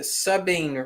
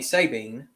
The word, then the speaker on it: Sabine: we got voodoo john saying in louisiana we pronounce it subbing rivers sabine okay kinda like how y'all pronounce new orleans nollens so subbing river all right well that's not how stephen pronounced it he told me sabine but sabine okay so subbing got it i